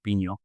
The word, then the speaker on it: Pinho: Um, and I want to give you an A+ in your Portuguese pronunciation of Pino.